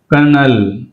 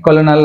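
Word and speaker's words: colonel: అనకూడదు సామన్ right సామన్ కర్నల్ right కర్నల్ అంతేగాని కొలనల్ అనకూడదు కర్నల్ cough cough and calm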